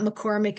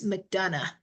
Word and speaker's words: McDonough: It's not McCormick, it's McDonough.